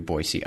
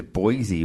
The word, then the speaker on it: Boise: Because it's Boise. What the hell did he say? It's actually, we say it wrong everywhere else. I guess they say it Boise. Yep, Boise. Kinda Gotta say the C.